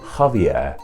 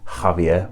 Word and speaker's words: Javier: english so that means in spanish xavier started to be pronounced with a sound and became javier and as the ha